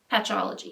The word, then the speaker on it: Patchology: Next thing I got this giant box of the Clean AF makeup remover wipes by Patchology.